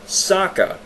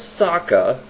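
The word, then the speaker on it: Sokka: way and another thing Saka s-o-k-k-a kka Saka using standard American English that is how that name would be pronounced Sako one of the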